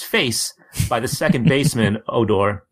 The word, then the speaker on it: Odor: by the second baseman, Odor, pronounced Odor.